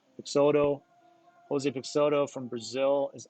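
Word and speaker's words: Peixoto: No, it's Brazil. It's Portuguese kind of Pixoto.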